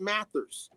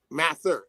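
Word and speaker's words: Mather: his son cotton mats I I shouldn't put the s because the cern names are very particular so I'mma spell it again increase like you know how you increase something you know yeah that's how it's spelled if you look at the increase part. And then Matthew Matther, M A T H E R.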